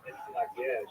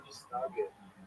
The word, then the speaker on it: Mitnaged: And even the name itself, Mitnaged, or Misnaged in Yiddish pronunciation, refers to how the traditionalists, led by the Vilna Gaon, define themselves by their opposition to the Hasidic movement.